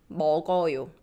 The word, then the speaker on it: 먹어요: This 그, 기억, gets pronounced because this iung, zero, doesn't have any sound and just carries the previous sound. So it becomes 먹어요.